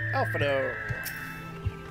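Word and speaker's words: Alphinaud: Alphino. Because the D is silent.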